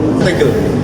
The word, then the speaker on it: tegel: Ini tegel, itu bahasa Belanda. Tegel, bacanya tegel.